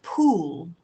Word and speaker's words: pool: So it's pull and pool. Pull and pull. Okay, this one has more of an ooh, the longer ooh sound.